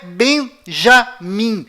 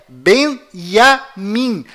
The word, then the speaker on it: בנימין: Além disto, não é Benjamin. A pronúncia correta é Benyamin. Pois lembre-se, até hoje não existe em hebraico nenhuma letra com som de J.